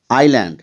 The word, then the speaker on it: island: here L remains silent Island here s remains silent in this way you